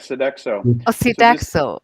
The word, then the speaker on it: Sodexo: contract uh uh amendment with this so uh so daxo how do you pronounce that word that is correct sodexo america uh for the amount of amended amount